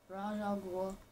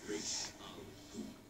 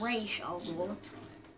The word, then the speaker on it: Ra's al Ghul: Yeah, Raj, I don't know. Raj Al Ghul, I don't know. That's welcome, it. Detective. I am the great Ra's al Ghul. Yeah, see? He calls himself Ra's al Ghul. That is spelled Ra's al Ghul. It is that simple.